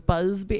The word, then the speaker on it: Busby: No, I think because it's Busby.